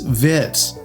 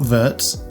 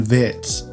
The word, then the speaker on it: Wirtz: Liverpool claim after Floren Vitz transfer. I've just learned how to say I used to say vert and someone thankfully corrected me in a comment. They said it's Vitz, not Vertz. Floren Vitz Vitz.